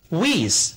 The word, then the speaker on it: width: This road needs to be widened，就是这条路需要加宽。接下来我们来学习物理量宽度用英语怎么表示。宽度是 width， W-I-D-D-H，这里 th 是一个名词后缀，它的读音是 s，字母 i 读作短元音 e。请跟我读 width，表示宽度、宽阔，是一个名词。我们说十英尺的宽度，用英语表达就是 a width of 10 feet， a width